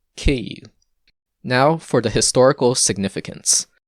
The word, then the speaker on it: Київ: this is the ukrainska name and it is pronounced kei now for the historical significance when ukraine was